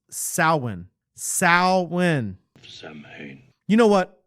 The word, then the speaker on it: Samhain: Loomis, it's pronounced Samhain.